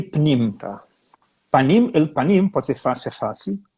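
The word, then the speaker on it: פנים אל פנים: Panim el panim. Em hebraico, Sim. panim el panim. Panim se escreve com 4 letras, né?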